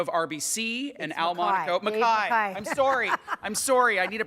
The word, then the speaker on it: McKay: Dave McKay, President and CEO of RBC, and Al Monaco. Mackay. I'm sorry. I need a pronouncer in my...